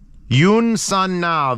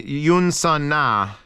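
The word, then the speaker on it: Youn Sun Nah: And again, Yoon Sun Na, which is spelled Y-O-U-N space S-U-N space N-A-H, nah, is high recording quality.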